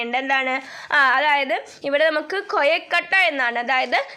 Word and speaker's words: കൊയക്കട്ട: എന്താണ് അതായത് ഇവിടെ നമുക്ക് കൊയക്കട്ട എന്നാണ് അതായത് സാധാരണയായിട്ട് നമ്മൾ കൊഴുക്കട്ട എന്ന് പറയുന്നതിനു പകരം പ്രാദേശികമായി ഉച്ചാരണ വിധ്യാനം വന്നിട്ടുള്ള കൊയക്കട്ടയാണ് ഇവിടെ ഉപയോഗിച്ചിരിക്കുന്നത് നിങ്ങളെല്ലാവരും കൊഴുക്കട്ട കഴിച്ചിട്ടുണ്ടാകുമഎന്ന് വിചാരിക്കുന്നു അപ്പോ അതിന്റെ